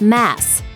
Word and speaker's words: Mads: In spite of all that fame, though, almost everyone gets his name wrong. Cause, when you look at his first name, it reads pretty easily as Mads Mikkelsen, right?